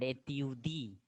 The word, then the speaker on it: étudie: And etyudi, etyudi. Ending E, simple wala E is silent. Etyudi.